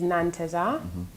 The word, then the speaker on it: Nanteza: else it's like interesting to hear how you pronounce it azitik what came from my surname my same my surname is nantesa and at the end of nantes are there's